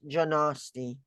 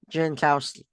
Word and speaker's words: Jankowski: __ ] I mean I'm going to Travis janosti he's been he's been pretty good let me